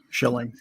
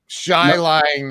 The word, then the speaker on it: Schilling: your last name right it's shilling correct shilling i mean i don't know how else you would pronounce that but but uh you never know shy lying or something every once in a while it's chilling right we have some